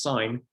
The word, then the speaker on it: sine: on a basic calculator you can see above the sin button actually pronounced sine it look is uh